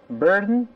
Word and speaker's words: burden: 刚才看到 Kennedy 把它读成 burden, burden, burden，舌头不做动作